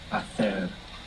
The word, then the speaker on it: hacer: To make in Spanish is hacer, and it has a silent H. It's H-A-C-E-R. So in most of Spain, actually, that would sound hacer, but hacer in most of the Spanish-speaking world.